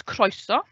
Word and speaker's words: croeso: Wales, we pronounce Cymru. And welcome is croeso.